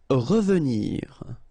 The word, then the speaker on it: revenir: Revenir. Okay, remember that is pronounced really like a. Revenir. Revenir. Appeler.